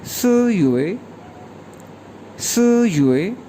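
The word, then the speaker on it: 四月: इसी तरह अप्रैल को कहेंगे स युए।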